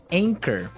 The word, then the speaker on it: anchor: But you don't pronounce the CH as you normally would, right? Another one of these really difficult to spell English words. Right, so you don't say anchor, you would say anchor.